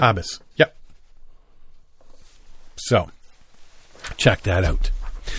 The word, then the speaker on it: haabjas: The J is silent? Habas.